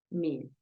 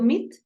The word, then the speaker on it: meet: Yo estoy exagerando un poco la alargación, tú dices meet, meet. No es tanto meet, sino meet. Un pedacito más largo.